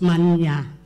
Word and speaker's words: Manya: Now, if you call me Manya in that way, you'd be swearing at me. So please be careful. It's Manya, not the other way.